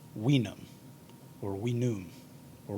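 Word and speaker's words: vinum: would have been pronounced weenum or we knew or wenum the v being a w sound in latin it does uh the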